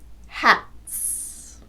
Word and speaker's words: hats: T is a voiceless consonant, t. So the S is pronounced s, hats.